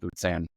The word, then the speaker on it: Luzern: But yeah, that's an interesting town because there's two ways to really pronounce it: Lucerne and Luzern.